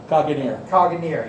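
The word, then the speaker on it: Caganer: It's a popular form called the most popular form is the Caganeer, yes, that's it. I had no idea how to pronounce that, of Catalonia, but can also be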